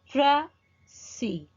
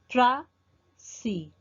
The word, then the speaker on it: précis: In one pronunciation, you can stress the first syllable like prècis, prècis, or you can accent the other syllable.